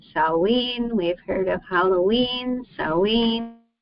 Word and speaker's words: Samhain: Summer's end and though you're probably tempted to pronounced samine it's actually pronounced s saen we've heard of Halloween SE so how did